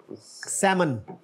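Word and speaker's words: salmon: fish होती है एक इसमें एक लेटर साइलेंट है च वन इज दैट सेमन एटली आगे सैंडविच आगे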